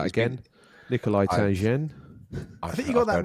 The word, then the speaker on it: Nikolai Tangen: If you Yeah, like to that's pronounce right. that again. Nikolai Tangen.